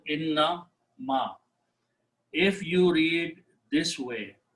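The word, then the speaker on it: إنما: Don't try to stretch between inna and ma, otherwise it will pronounce like this one, meaning will change. So make sure that in the tajweed, in the recitation of the Quran, you do a proper pronunciation, innama, not inna ma.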